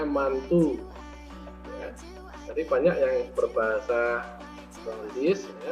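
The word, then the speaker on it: Mantoux: gatal merah bengkak di Oke tulisannya mantau tapi itu bahasa Perancis Jangan dibaca mantau bacanya mantu jadi banyak yang berbahasa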